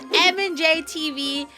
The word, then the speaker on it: MandJTV: It's M&J TV. Let's all collectively forget I completely mispronounced it the last time I reacted by MandJTV.